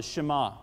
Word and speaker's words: Shema: This passage right here, Deuteronomy 6, 4, and 5, is known as the, I may mispronounce the accent, but the Shema, or the Shema.